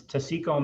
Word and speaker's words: Taseko: How do you pronounce it then, Stuart? It's Taseko Mines.